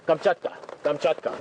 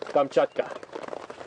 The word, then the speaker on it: Kamchatka: remembered um laws still in Russia the Yucatan kamchata how do you say it in Russian Kamchatka I want to go to kamchata you know